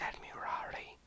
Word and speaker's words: Admirari: It's Admirari. I've been saying it wrong the whole fucking time.